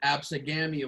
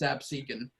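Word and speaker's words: Absecon: um ab seeking lighthouse some people might pronounce it as the absolute lighthouse but it's absent um they they want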